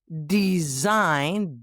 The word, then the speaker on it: design: The silent G, as in sign, S-I-G-N, design, D-E-S-I-G-N, and foreign, F-O-R-E-I-G-N.